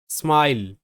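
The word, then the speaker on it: smile: এরপর থাকছে স্মাইল, স্মাইল, এস এম যুক্তবর্ণ হবে, এস এম যুক্তবর্ণ স্ম, স্ম, আই এর সাউন্ড হবে আই, যেহেতু আই এর পর একটা কনসোনেন্ট এল, তারপর ভাওয়েল ই আছে, তাহলে আই এর উচ্চারণটা আই, স্ম আই স্মাই, এল তে ল স্মাইল, স্মাইল।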